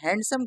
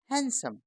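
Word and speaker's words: handsome: एस ओ एम ई अक्सर हम इस शब्द को पढ़ने में हैंडसम कह देते हैं पर इसको हैंडसम नहीं कहना क्या कहेंगे हम आज से हैंडसम ये बिल्कुल ठीक तरीका है पढ़ने का ठीक ऐसे ही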